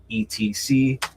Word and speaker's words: etc: And some people might get on me about that because I pronounce it Etsy. You can also say ETC, whatever, man.